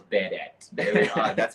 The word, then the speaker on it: Budat: Budat. Get that right, guys. It's Budat.